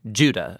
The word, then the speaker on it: Judah: Jude or more accurately Judah according to the pronunciation of his name both in Greek and in Hebrew Judah was one of